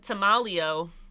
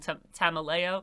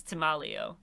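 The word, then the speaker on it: Tameleo: dead since 1964 but to malio I think I was mispronouncing that before his name is tomalio I think that's how it's pronounced I was mispronouncing it saying tamaleo it's timalio but tamalio wouldn't let him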